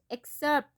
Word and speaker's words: excerpt: Excerpt, P is silent.